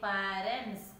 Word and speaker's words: parents: Parents. Yesterday also we learned that parents, the ending letter is S. It is pronouncing as S only, not Z.